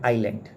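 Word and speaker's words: island: लज है वो है आइलैंड ओके हा आईलैंड में एस साइलेंट होता है नहीं तो आप इसको जलैंड मत पढ़ देना हसेंगे लोग थर्ड फिल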